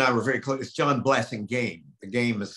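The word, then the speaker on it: Blassingame: were very close john blessing game the game is spelled pronounced like game and um you know we were all yale together i had breakfast with john blase game six days a week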